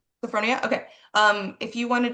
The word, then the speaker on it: Sophronia: Um, if you your name is pronounced Sophronia. Yes. Sophonia.